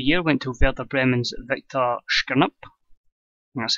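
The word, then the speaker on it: Viktor Skrypnyk: Manager of the Year went to Werder Bremen's Viktor Shkirnup. That's how you pronounce it.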